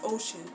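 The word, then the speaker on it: Oshun: my name is ocean literally pronounced as ocean pacific atlantic ocean that's my name ocean but it's spelled as in the west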